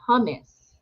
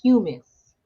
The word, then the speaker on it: humus: i promise it's all it's called hummus human it's pronounced humus it's like uh it's